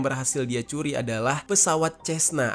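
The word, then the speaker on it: Cessna: Dan pesawat pertama yang berhasil dia curi adalah pesawat Cesna atau Kesna gitu ya bacanya.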